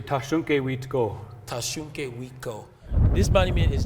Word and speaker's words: Thasunke Witko: So in our language, we say Tashunke Witko.